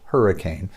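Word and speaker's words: Hurricaine: medication called hurricane spray that's Hur RI CAI in E like novocaine hurricane spray it's made by the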